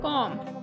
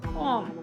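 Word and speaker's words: comb: कंघा की इंग्लिश है कॉम, यहाँ पे बी प्रोनाउंस नहीं होगा, कॉम।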